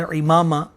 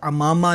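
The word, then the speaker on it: عمامہ: یہ جو لفظ ہے امامہ، اس کے عین کے نیچے زیر ہے، یہ لفظ امامہ نہیں ہے بلکہ صحیح تلفظ اس کا امامہ ہے، اور اسے ہماری بولی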